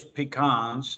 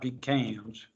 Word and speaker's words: pecans: on the pecans and it is pecans not pecans how do you know pecans because Pete said so because I because I've lived down here for 50 years and I learned how I better say it right all right but the